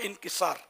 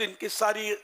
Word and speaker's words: انکسار: انکساری، یعنی عجز و انکسار، میرے منہ سے نکلا انکساری، اردو والوں کے لیے یہ کہ لفظ انکساری غلط ہے، انکسار صحیح تلفظ ہے، تو انکسار، تواضع، عجز،